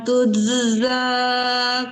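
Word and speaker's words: تُجْزَىٰ: Al-yawma tujza kullu nafsin bima kasabat. Itu dipantulkan jimnya ya Bu. Al-yawma tujza. Al-yawma tujza kullu. Jangan digabung ke za ya, tuje, diputus tuje, mantul ya, tuje, zau mengalir jimnya.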